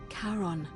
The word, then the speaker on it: Charon: Only your pronunciation... It was C-H. Charon.